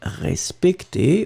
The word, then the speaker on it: respecté: Je veux être respecté, which is in fact the masculine form, accent aigu, je veux être respecté, accent aigu, for the feminine form, you will pronounce them exactly the same way.